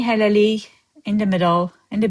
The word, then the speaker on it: hələlik: You see, officially we write hələlik, but when you pronounce it, you're going to soften the k at the end and you're going to say it as y.